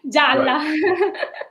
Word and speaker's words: Gialla: Gialla.